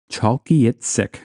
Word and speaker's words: Chalkyitsik: Alaska let's talk about chalky it sick now to pronounce this I had to like write it out phonetically chalky It Sick chalky ITC this is apparently a gwitchin